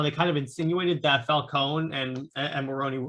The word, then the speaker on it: Falcone: was like they had falcone that's actually the name you pronoun the way you pronounce it i'm italian that's the